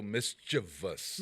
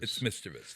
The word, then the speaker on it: mischievous: just being a little mischievous mischievous not not not mischievous not mischievous yeah it's mischievous that's our campaign this